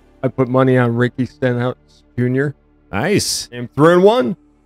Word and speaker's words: Stenhouse: close to that happening Ricky steinhaus but you're right Ricky Stenhouse if you want to say it correctly but fine all right